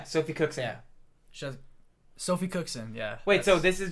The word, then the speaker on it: Sophie Cookson: She has Sophie Cookson.